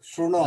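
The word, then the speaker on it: शृणोति: Is it su or shru? Shrunoti. That's what. It is a Shrunoti.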